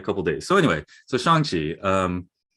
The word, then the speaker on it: Shang-Chi: days so anyway so shangji um there's no true rhyme with that first song but except i would